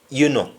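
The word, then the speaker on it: enuh: e n e double n u and it's pronounced as you know you know and under example somebody says mid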